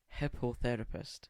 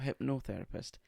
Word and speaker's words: hippotherapist: No, I'm not mispronouncing this. Hippotherapist. Not hypnotherapist. Hippotherapist.